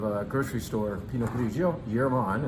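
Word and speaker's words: Jermann: Yerman, and that's how you say it, by the way. You know, a lot of Northern Italian wine names sound Germanic, and that's in fact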